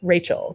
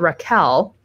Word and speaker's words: Rachel: I am just really Rachel. That's just how I pronounce my name. But I have been called Raquel. I don't really get that because there's no Q in there. Obviously, in Spanish, it is Raquel.